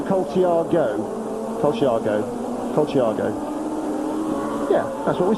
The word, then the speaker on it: Colciago: Now, I must just read out this Love Your Racing Weekends, persist in pronouncing Colciago's name with an I before the O. Any of his Italian brethren last go, as in go racing, so Colciago.